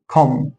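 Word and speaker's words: comb: الام اللي جه بعد الام حرف البي فمش هنطق البي فهنا اقول كم هنا حرف جه بعده البي يبقى مش هنطق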